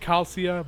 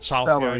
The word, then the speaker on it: Chalcia: It's I think it's supposed to be pronounced Calcia, but I guess Chalcia is also a acceptable pronunciation.